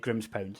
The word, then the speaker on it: Grimspound: Grimspound, is that how you pronounce it? Grimspound, yep.